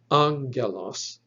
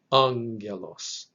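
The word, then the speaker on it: ἄγγελος: this word is pronounced angelos it is not pronounced angelos nor is pronounced angelos the accent or the emphasis should be on that first syllable angelos now there's no difference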